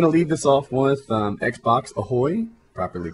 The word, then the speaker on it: XboxAhoy: I'm going to lead this off with XboxAhoy, properly pronounced from now going forward.